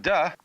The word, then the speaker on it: Te: And the book is called the Tao Te Ching, because again, there's no apostrophe after the T, so it's pronounced de, and Jing, there is no